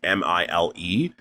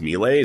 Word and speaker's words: Mile: So, it's pronounced Mle, I believe, but the spelling is M I L E. So, like Mile, but it's pronounced Mle.